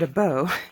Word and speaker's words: Abó: and check everything out and yes I've been pronouncing it but it's as we were talking to the Rain he said a bow and I was like oh I've been saying